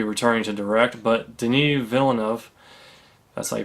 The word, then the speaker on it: Villeneuve: would not be returning to direct but Denis Villeneuve as I pronounced it was the director of films like